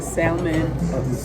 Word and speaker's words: salmon: Listen, I ordered a salmon BLT. I was just talking to this guy that was like, all I want is a lady that don't pronounce the L as salmon and something else.